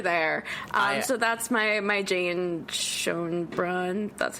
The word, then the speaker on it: Schoenbrun: So that's my Jane Schoenbrunn, that's how you pronounce it, story.